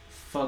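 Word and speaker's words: phở: Probably Pho Good, which is right down the street.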